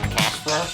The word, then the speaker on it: Cache Flow: The podcast is called Cash Flow. C-A-C-H-E is how it's spelled.